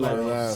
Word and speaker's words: Lyles: Yeah, Lyles, right? How you Yeah, pronounce Trey it? Lyles.